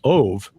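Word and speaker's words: אוב: He pointed out that if you separate Ben and then O-B into two words, Ben, and in the Hebrew would be pronounced Ov, you get Ishbi, son of the Ov, because Ov means medium.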